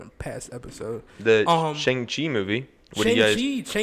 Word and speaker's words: Shang-Chi: Shang-Chi. That's literally how they pronounce it.